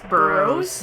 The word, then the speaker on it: Burroughs: Now, is it Barrows or Barrows? I think, well, I've seen it spelled different ways. In this game, it's spelled B-A-R-O-W. I believe in the, I think it's Clock Tower 3. Yeah, it's Burroughs. Yeah, B-U-R-R-O-U-G-H-S.